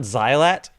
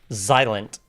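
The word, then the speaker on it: Xilent: That is the wildest version of Zilent I've ever heard. Not Not Zylat. Zilent. The X is silent. So like silent, but with an X.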